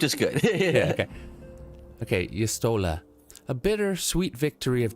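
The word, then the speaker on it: Y'shtola: Yustola. It's Yustola. If you just think of Stola and add a y to the beginning, Yustola.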